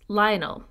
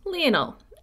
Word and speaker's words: Lionel: had passed away 2 years earlier I have pronounced his name earlier as Lionel but I have since learned via Katherine Warner's book John of gaun that it's pronounced Leonel as she says quote Leonel Messi not lonol